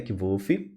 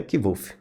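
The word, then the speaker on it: Kvothe: gente que chama de kiv aqui no livro diz assim meu nome é kolf com pronúncia semelhante a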